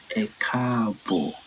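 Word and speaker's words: E kaabo: So within the Eurobas, if you want to say welcome, we say eabo.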